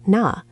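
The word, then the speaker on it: 나: There's na, pronounced na, which is casual and used with close friends.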